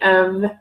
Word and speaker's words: of: Or technically of, when we pronounce the word of, it sounds like O-V.